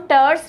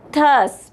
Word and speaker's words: thus: इसको हम टर्स नहीं पढ़ते हैं बेटा, इसका जो प्रोनाउंसिएशन है वो होता है थस, THUS वाला, टस, ठीक है।